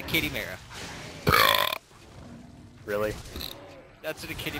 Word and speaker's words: Chimera: The joke is ruined now that I didn't say it right. It's a kitty mara.